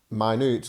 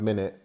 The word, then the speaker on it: minute: replace very small with tiny or minute now my newt looks like the word minute because it's spelt the same but uh be careful on